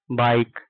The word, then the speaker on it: bike: जब किसी वर्ड के लास्ट में ई आता है तो क्या होता है, साइलेंट हो जाता है। जैसे BIKE बाइक, MIKE माइक, ई आ रहा है नहीं आ रहा, TAKE टेक, GIV गिव।